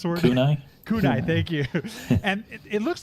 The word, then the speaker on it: kunai: not that they're uh they how do you pronounce the word kunai kunai thank you and it looks like there's a